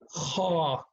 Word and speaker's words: خ: So among the 9 letters that we studied from the beginning, only kha is heavy, which means we pronounce it with a sound as, you know, ah, kha, right?